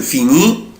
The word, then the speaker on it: finis: je prononce pas، انا مش بنطق لا لتر اس ولا لتر تي، انا مش بنطق لا الاس ولا تي، يعني اي اس اي اس اي تي مش بنطق. je finis، tu finis، il finit، elle finit.